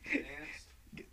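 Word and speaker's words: Gdańsk: That's pronounced all right. Gdansk.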